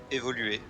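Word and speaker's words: évolué: Évoluer. That's the French. Évoluer. That's how they say it.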